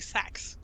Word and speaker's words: seax: We did decide last time that probably the best way to pronounce it in modern English would be sax, like a saxophone.